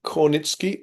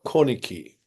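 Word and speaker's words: Kornicki: And um uh Peter Cornitki or Corniki both are I think possible.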